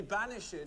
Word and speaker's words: banished: Then shall you be banished from this plantation's liberties? Banished. The extra syllable.